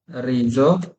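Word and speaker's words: riso: এস এর আগে পরে ভোকালে থাকলে। যেমন আমি দেখাই, কেমন দেখাই আপনারে, বলি যে কাজা, রিজো, না, যেখানে এস এর উচ্চারণ কিসের মতো হয়েছে?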